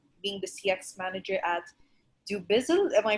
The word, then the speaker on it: Dubizzle: experiences include uh being the cx manager at do bizzle am i pronouncing that correctly yes it is okay so